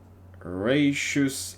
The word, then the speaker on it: raucous: Raucous applause. Raucous. Raucous. Okay, I completely mispronounced it.